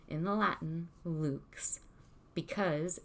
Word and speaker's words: lux: the same way lu x lux is actually pronounced correctly in the latin luke's because it's origin is latin that's through the